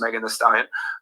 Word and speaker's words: Megan Thee Stallion: Now, born 1995, known as Megan Thee Stallion, pronounced Megan Thee Stallion, is an American rapper originally from Houston, Texas.